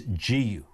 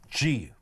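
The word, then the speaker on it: 自由: I think the rough pronunciation, and I won't do the accent, is Jiyu. Jiyu. J-I-Y-U. And there's a little kind of accent over the U.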